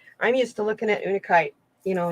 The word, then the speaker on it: Unakite: It's Unakite. And I always look at it as una because I think it's multiple things, so it's in unison.